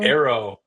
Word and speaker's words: Eero: Arrow, almost like a bow and arrow.